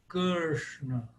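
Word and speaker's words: Kṛṣṇa: Mas nada igual então ele seria semelhante ao F se você tirar o f f então a pronúncia seria ksna ksna o que você tem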